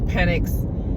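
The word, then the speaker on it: Penix: fan from the beginning I probably was saying his name wrong in in earlier uh car conversations but it's it's penx and I'm a Michael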